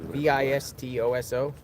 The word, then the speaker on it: Vistoso: V I S T O S O.